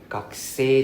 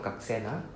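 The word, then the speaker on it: 学生: Hai, gakusei desu. And it's pronounced as gakusei, not gaksen.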